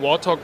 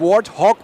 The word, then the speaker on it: Warthog: Und ein Traum mit war, ich sitze hier endlich in meinem eigenen Warthog bei Xbox. Und ich habe gelernt, das heißt Warthog und nicht Warthog. Ich habe das jahrelang falsch ausgesprochen.